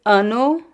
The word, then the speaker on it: ano: Uh, so this is ano ano. It's a nasal sound.